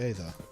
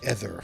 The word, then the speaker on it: Aether: The Aether, that's it, the Aether. Or the Ether, depending on how you want to pronounce it.